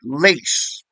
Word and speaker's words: lace: not an S and he said well no it's like lays like lays like potato chips I said well that